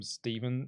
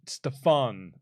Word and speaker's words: Stefan: When um Tony Schiavone mispronounced his name, called him Steven Smith. And Taz goes, "Stefan Smith."